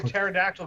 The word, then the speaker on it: pterodactyl: Mark, why can't you hear a pterodactyl go to the bathroom? Why? The P is silent.